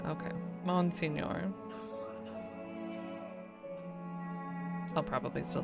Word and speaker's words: Monsignor: French, Italian, GN, Portuguese, and H all represent the same NY sound. So English adapted pronunciation along the lines of Monsignor. Okay. Monsignor.